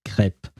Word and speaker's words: crêpe: I can only pronounce it in French, and we pronounce it crêpe. So it's a eh sound, basically.